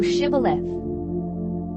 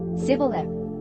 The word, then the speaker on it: shibboleth: If he said, Nay, then said they unto him, Say now, Shibboleth. And he said, Sibboleth, but he could not frame to pronounce it right.